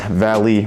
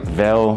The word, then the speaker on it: Veil: As you guys can see, it just says Valley right there. Or I've been saying it wrong. It's actually Veil.